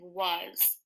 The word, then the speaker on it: was: the next word is was was was was and this word is kind of tricky the w says what the a actually says o and the S as long as we could use is mrs.